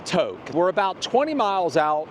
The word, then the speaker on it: Tok: And we're working our way down from Toke. And I learned that it's not Tok, it's Toke.